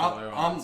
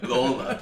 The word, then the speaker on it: Loyola: Did I say it wrong? Lola. You were singing Lola. Whatever.